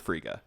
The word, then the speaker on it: Frigga: Freya hashtag said frico I don't remember they pronounce it Frigga yeah yeah but we're